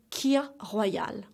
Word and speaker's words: kir royale: on the third drink is called tea or kir Royale repeat after me please kill Oh Kea Hawaii